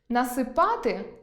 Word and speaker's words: насипати: Також зміна наголосу може означати зміну виду дієслів (насипАти (що робити?